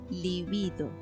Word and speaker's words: libido: psíquica en la libido libido se pronuncia diferente de ibi claro la semana anuncia